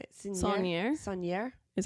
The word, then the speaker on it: Saunier: Saunier.